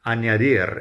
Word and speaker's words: añadir: Añadir is also to add one thing to another. It's got the ñ, añadir.